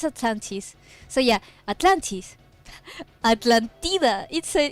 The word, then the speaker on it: Atlantis: Atlantida. What? No. You don't say it like that. You don't say it like that. Atlantida. What? You don't say it like that. How do you say it? Atlantis.